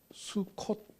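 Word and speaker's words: Sukkot: 수콧 이렇게 발음을 하는데 초막절은 바로 스콧입니다.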